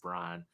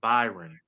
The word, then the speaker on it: Byron: You called him Brian, and now you got me calling him Brian when it's actually Byron.